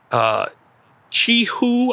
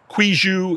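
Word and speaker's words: quihoui: This is Ligustrum Chihu, I think is how it would be pronounced in Chinese. It starts with a Q. Quiju, if you're more American.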